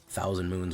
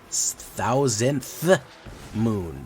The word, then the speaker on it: Thousandth Moon: to do Asha Palma thousand moons whatever uh okay thousandth Moon that's not easy to pronounce it's anacal thousandth Moon not thousand Moon uh we will take